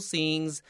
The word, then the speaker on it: scene: Look at the word scene, that C 没有发音, so I drew a little tata above my C.